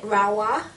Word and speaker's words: Rahua: and then last but not least is the rahua I think there's a little thing of how you pronounce that oh you pronounce it rawa is in like rahua Raa um and this